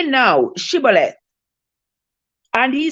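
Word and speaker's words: Shibboleth: nay then said they unto him say no Chevrolet and he said sibole for he could not frame to pronounce it right okay let's read verse 6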